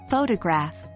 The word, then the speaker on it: photograph: For instance, in the word photograph, the stress is on the first syllable, while in photographer, the stress moves to the second syllable.